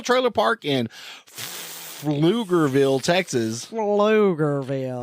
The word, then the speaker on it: Pflugerville: Pflugerville. That's spelled with a P, not an F.